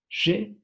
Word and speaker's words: J'ai: Aquí también podemos encontrar otro par de diptongos u otro par de fonemas, que son la A y la I, que tienen el sonido de E. Esa es la razón por la que suena je.